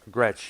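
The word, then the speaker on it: Gretsch: company craigship i understand uh it could be gretch i don't remember for sure it's spelled g-r-e-t-s-h yeah that's rich scratch gretch yes yeah it was like you know it's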